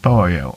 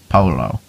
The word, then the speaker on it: pollo: pollo, which is pronounced pollo and not polo. Two L's make a Y sound in Spanish.